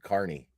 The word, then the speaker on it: Carney: I mean no he's he's pronouncing it correctly that's how you say his name Carney not to prove witness